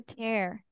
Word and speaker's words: tear: The pronunciation will be tear, like in air.